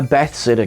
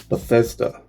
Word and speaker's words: Bethesda: touching it being a bath Sitter game I hope I'm pronouncing that correctly bethseta bathsitter bear says duh Bethesda it being Ambassador game